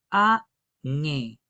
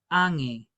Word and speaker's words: ange: Esta palabra tiene dos sílabas. La primera sílaba es A. Y la segunda sílaba es N. Recuerden que a diferencia del Castá nge dividir en dos sílabas. Se queda solamente con una vocal. Entonces esta palabra es añe. Ange ange. También pueden decir ang.